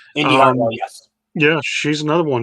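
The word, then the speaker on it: Indi Hartwell: Her name is pronounced. Indy Hartwell, yes.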